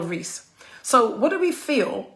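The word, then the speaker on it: Reece: um comments box his name is robert l reese and rhys is spelled r-e-c-e and the um the piece is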